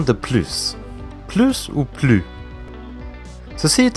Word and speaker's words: plus: souvent en français mais on peut le prononcé de deux façons plus en prononçant la hesse où son procès laisse comme plus ce qu'il faut savoir lorsque plus fait partie de négation on ne prononce jamais le s donc andy les phrases